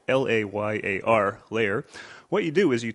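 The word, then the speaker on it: Layar: an exciting new technology what you do and that's spelled l-a-y-a-r layer what you do is you take your smartphone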